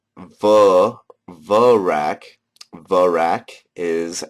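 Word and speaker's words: Verac: ahm anyways veric which is called ver verak verak is how that's pronounced Sarah doen which is called sarahan uh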